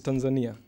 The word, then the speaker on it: Tanzania: Which is the correct pronunciation? It is Tanzania.